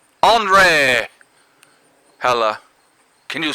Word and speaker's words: Henri: If it starts with H-E-N, I'm thinking Henry, okay? So, you know. But apparently the French call it Henri! Henri!